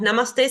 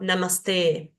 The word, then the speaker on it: namaste: durar un poquito más lo mismo que en la palabra namaste no decimos namaste sino namaste esa e dura un